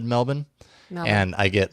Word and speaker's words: Melbourne: I'm like, because I had someone from Melbourne tell me it's Melbourne and not Melbourne, and I listened to them.